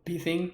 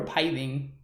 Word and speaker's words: Pithing Needle: P thing. Is it P thing or Pi thing? I always pronounce it Pi thing, but maybe that's not how you say it. Somebody help. It's not Pi.